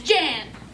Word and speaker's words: Jane: Her name is Calamity Jane. That's Jan. No, it isn't. You spelt it Jane. That spells Jane. You must be stupid. It's Jane. The E is silent. That means you pronounce it Jan.